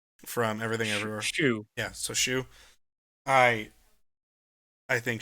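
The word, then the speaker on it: Hsu: Unsure on how to pronounce her last name, but Stephanie Sue from Everything Everywhere. Shu.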